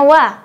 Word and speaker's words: は: Catatan, ha dalam bacaan dewa arimaseng dibacanya wa.